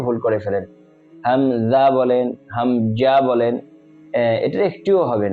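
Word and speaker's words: همزة: হামজা যেহেতু শেষে হা আছে তাহলে আমরা হামজা উচ্চারণের সময় হা এর উচ্চারণটাও ক্লিয়ারলি আমাদেরকে স্পষ্ট করতে হবে হামজা হামজা হামজা জবর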